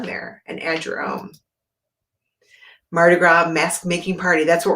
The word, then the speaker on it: Mardi Gras: So let's start with Happy Mardi Gras, right? French, so the S is silent.